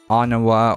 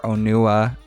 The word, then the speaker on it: Onua: And so they all have this brief discussion, and Onawa or Onua. Yeah, it turns out his name is Onawa. So according to Biosector, it is actually an acceptable pronunciation either way.